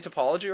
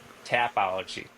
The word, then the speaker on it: Tapology: Am I saying topology wrong? Yeah. Tapology. Tap.